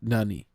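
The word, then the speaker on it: 何: question sentence in Japanese the Japanese word for what has two pronunciations none and Nani Nan is used immediately before death or before counter like G oock the other form Nani is used before a particle Nani is also used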